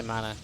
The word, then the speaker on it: MaNa: Yeah, I say MaNa. That's how it's said.